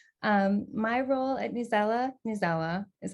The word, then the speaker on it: Newsela: lead accessibility engineer um my role at nusella nizawa is how i pronounce it um my role at new zela